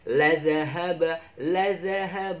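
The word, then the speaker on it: لذهب: Kemudian ladhahaba. Wah, ladhahaba ini mudah ya. Kalau misalnya kita masak, kalau pedes itu banyak ladanya. Walau sya'allahu ladhahaba bisam'ihim. Ladhahaba bacanya itu lurus ya, patas.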